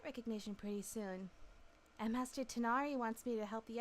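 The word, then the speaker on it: Tighnari: It's literally Tinari, but GH doesn't exist in English, so it's perfectly fine to say Tignari.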